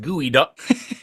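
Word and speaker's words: geoduck: It's pronounced gooey duck, but it's spelled G EO.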